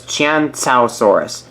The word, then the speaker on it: Qianzhousaurus: you basically have it so it's chant tau Saurus that's how you pronounce chants outsources name so hopefully you guys